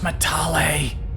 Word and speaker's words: Matale: It's pronounced Matale.